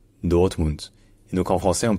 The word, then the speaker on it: Dortmund: Et enfin le D à la fin, comme toujours en allemand, le D final se dit T. Donc ce n'est pas Dortmund, c'est Dortmund. Dortmund.